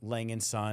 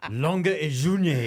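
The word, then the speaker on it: A. Lange & Söhne: it a Lang and I don't think that's it it's it's like long or something like that long C who else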